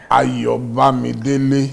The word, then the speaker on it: Ayobamidele: Ayobamidele.